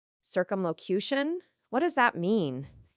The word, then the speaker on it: circumlocution: It is called circumlocation. Circumlocution.